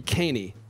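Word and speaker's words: Kahney: They never say it right. It's supposed to be KaHaney.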